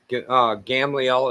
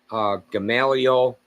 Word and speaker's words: Gamaliel: of Ammihud; of Manasseh, Gamliel is how you say it in Hebrew, but you say in English, Gamaliel the son of Pedazur;